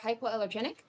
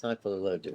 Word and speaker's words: hypoallergenic: Siberian cats are long-haired cats that are hypoallergenic. So I'm very allergic to cats, but not to Siberians. So she's hypoallergic, or however you pronounce that word.